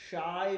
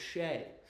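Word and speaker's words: Shai: You've been saying shy for the past two years, dude. Again, it's not Shay, right? It's not shy. It's Shay. Shay. Gilgis Alexander. It's not shy. GIS Alexander. It's Shay Gis Alexander.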